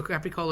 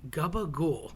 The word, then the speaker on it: capicola: lunch meat capicola so capicola is like a a spicy ham it could be hot or sweet cap and people tend to say Gabba goul that just sounds disgusting why would you want